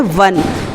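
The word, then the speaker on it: one: दूसरा एग्जाम्पल देखते हैं, स्पेलिंग है ओ एन ई, लेकिन इसे हम पढ़ते हैं वन, वाह।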